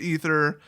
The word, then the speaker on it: aether: ether or aether it's it's pronounced ether but for various reasons they kind of screwed it up and spelled it aether basically for translation reasons